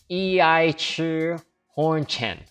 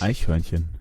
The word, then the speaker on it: Eichhörnchen: it, at first glance you might think it's pronounced as I Chi Horn Chen. You then look up the meaning of that word in one of the resources that I mentioned, and you discover that this word means squirrel, but actually you pronounced it wrong. It's actually pronounced like this. Eichhörnchen.